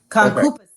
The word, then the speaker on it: concupiscence: David just broke it down phonetically. He said concupiscence. Concupiscence. Okay. That sounds so easy once it's pronounced correctly.